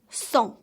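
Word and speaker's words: cent: again get over this 100 is some the T is silent one more time so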